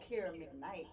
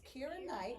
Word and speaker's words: Kira Knight: what did we say y'all said Kiera mcnight I'm like I'm not related to Brian mcnight it's Kira Knight that's my original last